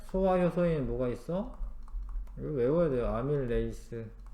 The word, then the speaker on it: 아밀레이스: 뭐가 있어 외워야 돼요 아밀레이스 옛날에는 아밀라아제라고 했는데 원래 이제 영어 발음식으로 하면 아밀레이스가 맞아요 녹말이 여땅으로 분해가 된다